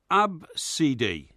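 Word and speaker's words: Abcde: just those five letters yeah okay and it's pronounced AB CD is it ABCD right right who've done anything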